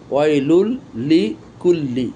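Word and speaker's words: ويل لكل: তাহলে এ পর্যন্ত ছিল ওয়াইলুল লি, আবার এখান থেকে হলো কুল্লি, ওয়াইলুল লি কুল্লি, ওয়াইলুল লি কুল্লি, ওয়াইলুল লি কুল্লি, ওয়াইলুল লি কুল্লি, ওয়াইলুল লি কুল্লি, ওয়াইলুল লি কুল্লি।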